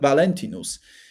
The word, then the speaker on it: Valentinus: So uh he starts to find out or combine Valenthus Valenc Valentinus. Yeah. Now I found the right pronunciation.